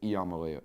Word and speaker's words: Iamaleava: Bro, the I comes out E, I swear. Listen to the way people pronounce it. It's Iamaleava.